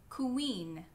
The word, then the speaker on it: queen: It's two sounds. It's the sound k and the sound u. Like in the words queen, quit, quiet.